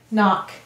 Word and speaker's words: knock: We'll underline the N and the K. Let's read it. N-ock, knock.